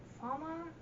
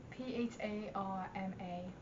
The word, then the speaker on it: Pharma: So, in the end of the comic, Ratchet and Farmer, I never knew how to pronounce that character's name. Farmer? Like, Pharma.